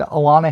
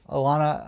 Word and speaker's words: Alana: school for picture day alana elena orlana i think it might be alana because it's spelled a-l-a-n-a so alana works for